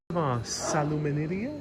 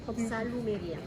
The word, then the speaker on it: salumeria: And then salumeria? Salumeria. Salumeria. That's how you pronounce it.